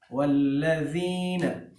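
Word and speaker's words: والذين: تلفظ کے اعتبار سے، یہاں زال کے مخرج کا خیال رکھنا ہے، ٹھیک ہے، یعنی اس زال کو سافٹ پڑھتے ہیں والذین، اور ایک چیز یہ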